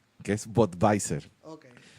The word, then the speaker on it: Budweiser: Lo que pasa es que no se pronuncia así, porque se pronuncia en alemán, que es Budweiser.